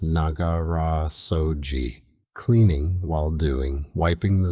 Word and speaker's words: Nagara Soji: The Japanese call it Nagara Soji, pronounced Nagara Soji.